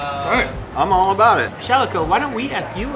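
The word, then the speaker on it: Shalaco: I spell my name Shalico, S-H-A-L-A-C-O, rhymes with calico, and I say it Shalico.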